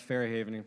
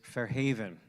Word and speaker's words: Fair Haven: that's right that's right that was the New Jersey pronunciation of Fair Haven I pardon pardon me for that is Fair Haven right with the accent on the on the second syllable all right so everybody